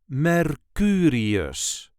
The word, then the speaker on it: Mercurius: Then we have Mercurius, or Mercury in English. This is the way we say Mercurius. Mercurius. There is a light emphasis on the second syllable, Mercurius.